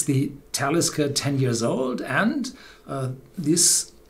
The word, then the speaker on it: Talisker: So, and one of the remains is the word Talisker, which pronounces on the first syllable.